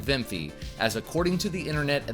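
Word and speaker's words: Wiimmfi: Also enable vimfy patch v before and yes I said vimfy as according to the internet that is how it is pronounced. This vimfy patch will allow online play to be enabled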